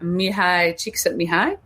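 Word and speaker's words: Mihály Csíkszentmihályi: the scientist researcher named i'm gonna try to pronounce it mihai cheek sent me high it's hard to even google because there's a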